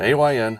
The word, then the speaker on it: AYN: A lot of people are trying to pronounce it and all that, which you probably can, but AYn is an acronym for all you need.